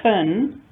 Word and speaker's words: can: We use the reduced form kun, unstressed reduced vowel. But when I want to emphasize that this is not possible, it's not permitted to park, then I use the full form. You can't park there. Stressed full vowel.